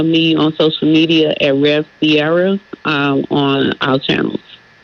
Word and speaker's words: Ciera: So it's spelled out re V C I E R A. Rev Sierra, right? Uh cuz I was doing it s I E R A.